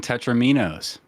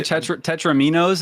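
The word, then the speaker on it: tetromino: that yeah no I I hear people say tetraminos and I'm like no it's tetramino like like touch like Domino like Tetris Domino tetramino but is it is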